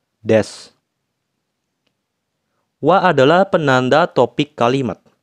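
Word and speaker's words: です: adalah penanda kalimat positif Des juga samades dari kata desu tapi kebanyakan ketika diucapkan bunyi uu di akhir kata itu sering dihilangkan jadinya cuman dibaca tetap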